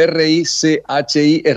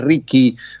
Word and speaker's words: Richy: lees como lo lees, se debería, o sea, si se escribe Richi, es Ricky, pero bueno, es Richie, sí, también.